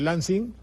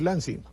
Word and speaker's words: Lansing: Lo que pasa es que el mérito, entre comillas, de Lansing, o Lansing, se escribe L-A, yo creo que debo decir Lansing.